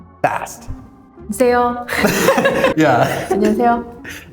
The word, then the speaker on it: 안녕하세요: 안녕하세요. Yeah. 안녕하세요. Koreans are not saying 야세요. They're just saying 안녕하세요. Like, 히읗 in Korean is not H.